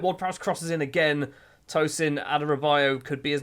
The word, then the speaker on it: Adarabioyo: Tosin Adarabioyo could be his name. It might be his name. Adarabioyo. It is Adarabioyo. I actually said it right first time.